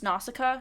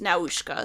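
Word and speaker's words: Nausicaä: In the English version, it's pronounced Nausicaa, so okay, just so you're aware, yes. Because I watched the Japanese version, and it was Naushka, so that's where the variation comes in.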